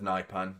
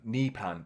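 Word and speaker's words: Nypan: But yeah, safe to say I think we need a third now, considering uh John, I'm a huge fan of NIPAN. Nepan, it's pronounced actually.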